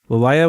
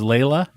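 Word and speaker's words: Leilah: her name is Layla, but they spelled it wrong. Oh, they spelled it wrong? They spelled it differently, yeah. Oh. It's Layla, though.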